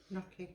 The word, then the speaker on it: gnocchi: Gnocchi.